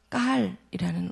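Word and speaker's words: גָּאַל: 그것은 까알이라는 원어 발음이 나오는데요.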